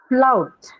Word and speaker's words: flout: Flout. I'm Ow. flow. Okay. Oh, Flout. Flout. Flout. Flout. Ow is the diphthong you have here.